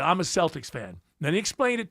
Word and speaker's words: Celtics: You became a Celtics fan. I can understand that. can't understand why they're not called the Celtics because that's how it's said every other time, but they're the Celtics and you're a fan.